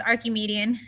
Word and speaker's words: Archimedean: Yeah, it is Archimedean. Like Archimedes.